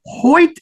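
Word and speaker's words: Hoit: very special surprise emotion at the end Richard Hoy did I pronounce his last name correct I know it's spelled hoi t yes Richard Hoy yep well he Illustrated both books in the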